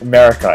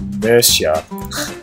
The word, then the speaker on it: Mercia: It's not pronounced America. It's pronounced Mercia.